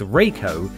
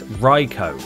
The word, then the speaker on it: Rai Cho: The voice actors refer to him as both Rai Cho and Rico, while the developers have called him Rai Cho.